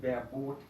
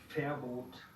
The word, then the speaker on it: Verbot: La V es como la F. Muy fácil la regla. No digan Biel, Verbot o Vorname. Es viel, Verbot, Vorname.